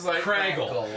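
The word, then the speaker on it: Kragle: So it's pronounced Craggle. You see that, and it's like, oh and my the piece of god.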